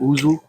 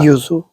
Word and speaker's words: yuzu: Or am I saying it right? Yuzu, ouzo, Ah. Yuzu. yuzu.